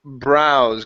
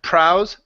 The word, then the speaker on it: brows: good let's go to browse give me a good B here instead of prows brows brows good and this is